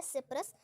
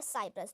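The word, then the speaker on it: Cyprus: Next है सिप्रस या साइप्रस, दोनों आप बोल सकते हैं, दोनों को जो है हम करेक्ट मानते हैं प्रोनाउंसिएशन में। तो सिप्रस, वैसे साइप्रस बोलोगे तो ज़्यादा बेटर रहेगा, बट पीएमएस के लिए अभी हम इसको सिप्रस बोले थे।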